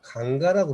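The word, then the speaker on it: गंगा: 그 다음에 이제 그 아까 겐지스강, 이 겐지스강이라는 것은 현지에 가면 전부 다 강가라고 그럽니다. 강가. 우리말로도 강가죠. 강이에요, 강. 예. 그런데 거기에다가 ES라는 영어의 복수 뒤까지를 붙이니까 그냥 영어식으로 겐지스라고 읽는 거예요.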